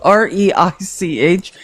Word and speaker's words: Reich: And it's spelled like Reich, but he's Jewish. Reich. It's pronounced Reich, though.